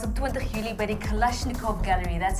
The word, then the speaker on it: Kalashnikov: Ons gesels vandag met ons tweede kreatiewe kerel, Andrew Kayser se openingsaand was op 20 Julie by die Kalashnikov Gallery.